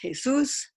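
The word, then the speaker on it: Jesús: And the guy that's facing us directly, his name is spelled just like Jesus, but it's pronounced Jesus.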